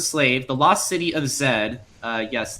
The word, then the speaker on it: Z: the lost city of Zed uh yes that is not Z it's actually pronounced Zed in the believe it's